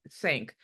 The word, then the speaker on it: Tzanck: sure, what you're going to do is a Sank smear. It's Tzan. How do we spell it? Sank.